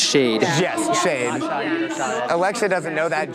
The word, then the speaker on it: Shaed: anyone who's not sure it is pronounced shade shade Alexa doesn't know